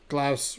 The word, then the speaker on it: Glaus: Glaus rhymes with house. You are correct.